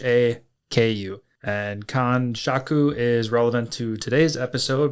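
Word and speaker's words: kanshaku: Kan shaku is spelled k a n s h a ku. And Khan Shaku is relevant to today's episode because we got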